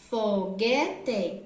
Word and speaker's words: foguete: Porém, o U não é pronunciado, então a palavra foguete não pode ser a resposta, porque a questão está pedindo quando o U é pronunciado.